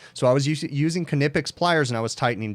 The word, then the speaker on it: Knipex: a canipix employee called them nipix but most of the videos you'll see they do pronounce the k canipix okay it sounds silly but that's actually how they're supposed to be or how they pronounce it in germany or wherever it's made but anyways going off